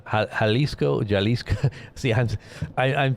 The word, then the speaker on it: Jalisco: Halisco. Halisco. Jalisco. See, I'm I'm pronouncing it wrong.